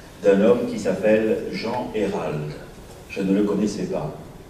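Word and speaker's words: Eyheralde: Ça s'écrit E-Y-H-E-R-A-L-D-E. Donc il aurait fallu dire Hérald.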